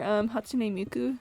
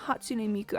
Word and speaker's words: Hatsune Miku: Have you guys heard the version where Hatsune Miku sings this? Like what? Wait, I think I said her name wrong. Hatsune Miku.